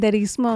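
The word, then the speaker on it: curanderismo: But uh the practice that you were just telling me how to pronounce I already forgot the name. Kenderismo. Corenderismo is is uh Latin Aztec Maya in that neighborhood.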